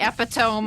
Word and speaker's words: epitome: Yeah, I think we're at the epitome of our episode. We sure are. I think it's actually pronounced epitome. Ah. I have been pronouncing it wrong this whole time.